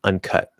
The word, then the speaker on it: uncut: But it's uncut, right? So the stress is on the second syllable, should be, meaning that the first